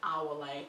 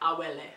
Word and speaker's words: Awele: If you're Nigerian, if you're not Nigerian, most people call me Awole, but some people can hold it down and pronounce it like Awele, and which means good luck comes with me.